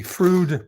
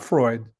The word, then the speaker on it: Freud: UCLA at the at the Frude Playhouse, not Freud, spelled like Freud, but Frude Playhouse, you know, Frude put on a series.